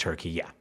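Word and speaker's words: Türkiye: spelled Turkiye, Turkiye, with the umlaut U, and pronounced Turkiye.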